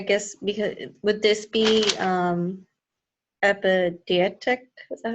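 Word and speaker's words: epideictic: He's just saying, I guess, obvious things, but I guess because would this be epidietic?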